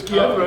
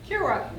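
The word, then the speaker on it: Kiewra: Because I Have I mispronounced all these years? before I knew you, What's your- I just assumed it was Kiev, you were Polish. Kira, right?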